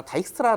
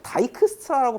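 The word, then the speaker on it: Dijkstra: 상관이 없겠습니다 여담으로 말씀드리자면 우리 보통 교과서나 아니면 대부분 강의에서나 다이스트라 다이스트라 이렇게 발음을 하거든요 근데 사실 다이크 스트라라고 발음해야 되는게 아닐까요 그 축구선수 보고 반다이 이러진 않잖아요 반다이크를 다이크라고 하지 다익이스트라 다이크 스트라를 살펴보았습니다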